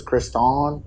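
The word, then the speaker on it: Kriston: so it's spelled like stuff on but it's pronounced Stefan my my sister's name is Kristen but it's k-r-i-s-t-o-n so it's Chris Dawn oh she likes to Owen yeah so the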